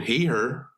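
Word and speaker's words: Hehir: In Andre the Giant, the subject of our film today entitled Andre the Giant by Jason Heher. Heer he is spelled H E H I R.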